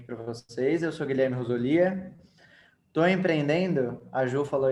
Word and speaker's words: Rosolia: Eu te conheço, acho que uns 6, 7 anos, e eu sempre chamei de Guilherme Rosolia, mas é Rosolia. Tá É brincando? Rosolia, cara. Não queria te corrigir, mas é Rosolia a pronúncia certa do nome.